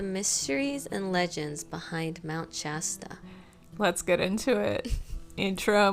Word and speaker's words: Shasta: Okay, it is Shasta.